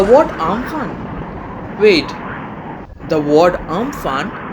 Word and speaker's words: Amphan: Wait, the word Amphan, pronounced as Umpun, originates from Thai and it means the sky.